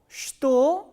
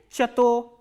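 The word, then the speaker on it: что: The next interrogative word is ch, ta, o, and as I have already told you that this word is pronounced as shto, not like chato.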